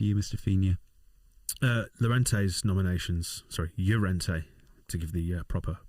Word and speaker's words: Llorente: Llorente's nominations, Llorente, to give the proper pronunciation.